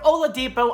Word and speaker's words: Oladipo: be please comment below my guess is Victor Oladipo that's right Victor Oladipo I can finally pronounce it if you watch our channel I've